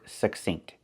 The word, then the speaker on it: succinct: We look at the word succinct. We see two C's. The first C makes the k sound, like in cake, k, k. And the second C makes the s sound, like in star.